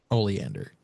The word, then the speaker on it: Oleander: Oleander is how you pronounce that.